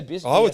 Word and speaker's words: BSKT: It's actually pronounced Biscuit.